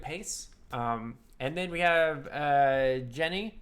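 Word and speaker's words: Djené: And then we have Jenny. I think the D is silent, like in Django.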